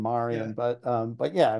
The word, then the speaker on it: Marion: she it's just she's she's German and that's how she pronounces her name Marian but um but yeah I mean you know I think she'll answer to Maran too so but it's